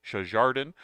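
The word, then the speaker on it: Sjardijn: short story written by Paul jardan of a pronouncing his name shardan uh a nice cool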